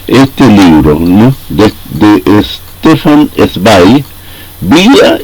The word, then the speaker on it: Zweig: Me corrigieron también los amigos alemanes porque yo pronunciaba Stefan Zweig y en realidad me dicen que la manera correcta de hacerlo es Stefan Zweig.